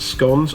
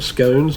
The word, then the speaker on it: scones: Barley, apple pie, vanilla, butter, fresh baked scones or scones, depending how you pronounce it.